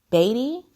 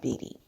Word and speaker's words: Beatty: is bevelin beatty um i thought it was pronounced baby but like warm baby but she pronounces that beady so she's been on